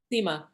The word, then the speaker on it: Sima: Judy Sima is a Sima. I'm not sure if I'm pronouncing it right. Sima or Sima. Seema. Sima, thank you.